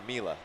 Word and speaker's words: Myla: Ninja Myla. The Y is pronounced like I. So it's more of a Mila, I imagine.